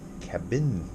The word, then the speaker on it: Cabbin: Mountain Home cabin yes cabin with two bees cabin cabin no it's cabin cabin and it's spelled that